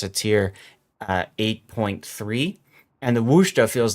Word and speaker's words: Worcester: It's not Worcester. It's not Worcestershire. Worcester is the way that I've been told is how you pronounce it.